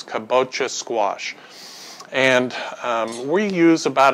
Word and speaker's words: kabocha: what we're going to be doing is cooking kabocha squash now kabocha is spelled c a b o c h a